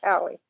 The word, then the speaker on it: Calle: She pronounces it Callie.